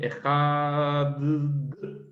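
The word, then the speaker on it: אחד: Adonai Eloheinu, Adonai Echad, y que extendió la pronunciación de la letra Dalet, diciendo Adonai Echad.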